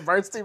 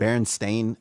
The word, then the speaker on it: Berenstain: Are you making G Unit the bullies from the Bernstein Bears?